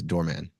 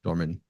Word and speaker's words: Dorman: I think the initial reaction, the initial way people read the name is Doorman. Like yeah, Doorman, Dorman, Oh, Dorm.